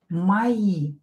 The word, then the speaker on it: мои: Мои друзья. Мои. It's plural for my. Мои. Мои. Ударение на и. И is stress.